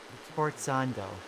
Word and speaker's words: Sforzando: Sforzando. Okay, that's how you pronounce that heckin' word.